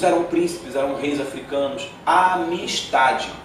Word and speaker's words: Amistad: Amistade. O D é mudo no final.